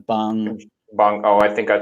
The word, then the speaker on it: Bong: Did I pronounce the Parasite's director? What did you say? It's Bong. Oh, I think I said John Blumhouse. It's Bong.